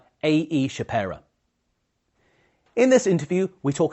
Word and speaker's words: Shapera: Nobody ever pronounces it right the first time around, so really? Well done. Well done. How do they normally do that? I get Shapera or Shapiro a lot, and Shapiro and Shapera are from the same